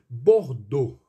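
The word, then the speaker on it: Bordeaux: bom então vamos lá bordou pronuncia-se dessa forma você vai ver aqui a escrita ali e a u x deve ser às vezes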